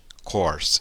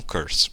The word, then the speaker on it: course: A pronúncia é I love my English course, e não curse, ok?